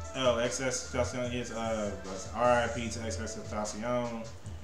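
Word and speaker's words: XXXTentacion: I call him Triple X. Not when I say his name. Oh, XS Tentacion.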